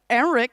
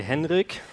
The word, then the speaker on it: Henrik: say your name sorry so in Germany we would say Henrik HRI with a strong K of course okay Henrik Henrik oh